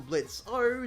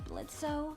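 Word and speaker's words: Blitzø: says Blitz with no, because the O is silent, but that actually means that the O has actually been erased though, like removed, which is different.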